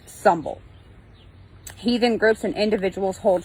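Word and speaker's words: symbel: it is pronounced bloat and symbol which is pronounced sumble Heathen groups and individuals hold feasts and celebrations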